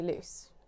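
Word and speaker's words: Luce: This also sounds like my nickname. My mum calls me Loose. Everyone calls me Loose. You can start calling me Loose, but it's spelled L-U-C-E, not L-O-O-S-E.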